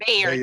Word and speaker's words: Bayard: name wrong. Bayard Yes, Rustin? Bayard.